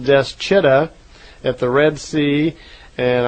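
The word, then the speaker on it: Dschidda: between some city called Deschida at the Red Sea, and I'm probably not pronouncing that correctly. It's spelled D-S-C-H-I-D-D-A, right between this city and the town, the Islam town called Mecca.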